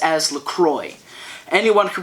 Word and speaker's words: LaCroix: stated in tweets that it is pronounced Lacroix because it is French and therefore pronouncing it